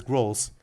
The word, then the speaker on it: Grrrol: I pronounce them as Grrrols, almost referencing like Dave Grohl, the drummer of the Foo Fighters.